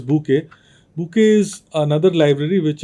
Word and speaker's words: Bokeh: is primarily or sorry this is pronounced as book book is another library